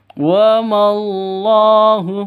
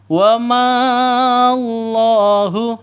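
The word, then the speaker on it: وَاللّٰهُ: mad asli seperti itu wallahu bacanya seperti itu ya Bukan dibaca panjang wahu itu salah yang betul wamallahu langsung ke Allahu lafzul jalalahnya lafzul jalalah ini kalau ada di tengah pasti panjangnya Hanya dua ketukan ada tanda berdiri ini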